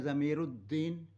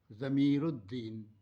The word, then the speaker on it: ज़मीरुद्दीन: ऐसे ही मेरा नाम है ज़मीरुद्दीन। अब होता क्या है, ज़मीर उल, अलिफ लाम, फिर दाल है, तो अलिफ लाम उल जो हैं यहाँ साइलेंट है, ज़मीरुद्दीन ये पढ़ा जाता है।